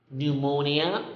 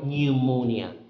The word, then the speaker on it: pneumonia: Next is pneumonia or pneumonia.